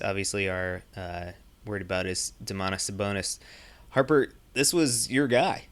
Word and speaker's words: Domantas Sabonis: Domantas Sabonis.